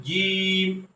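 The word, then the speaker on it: جيم: অক্ষরটার নাম হলো জীব শক্ত করে বলতে হবে জিম এরপরে জিমের মতই দেখতে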